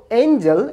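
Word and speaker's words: angel: অন্যদিকে দ্বিতীয় শব্দ এঞ্জেল, এখানে জি লেটারটির উচ্চারণ হচ্ছে জ।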